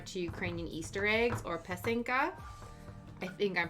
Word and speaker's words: Pysanky: And I kept pronouncing Pysanky wrong. I kept pronouncing I put the wrong emphasis on the right syllables. So I don't know if it's Pysanky. I'm pretty sure it's probably still wrong, but my interpretation of what he told me, it's Pysanky, or Ukrainian Easter eggs.